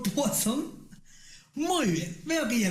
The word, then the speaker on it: Poisson: Se escribe Poisson con doble S, pero se pronuncia Poisson. A ver, repite conmigo, Poisson.